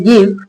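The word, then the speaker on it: give: ई क्या है, यहाँ पे साइलेंट है। तो जैसे क्या बनाया, लाइक, इधर भी लास्ट में ई है, गिव, मेक।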